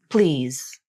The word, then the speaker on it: please: the voicing for example the final Z in the word please is often pronounced with maybe 50% of the voicing at the beginning and